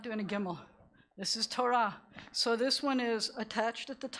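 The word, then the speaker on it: תורה: The hey is silent at the end of this, so this is the word that spells Torah.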